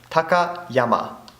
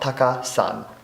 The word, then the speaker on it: Takayama: If you had Taka of Takai, it would be pronounced Takayama, not Taka-san.